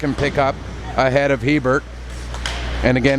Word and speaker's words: Hebert: of Hebert and again if it should be the more francophone pronunciation a bear I am NOT doing it out of disrespect I know that there are other hockey players in the province with the surname Hebert who pronounce it anglicized but played ahead and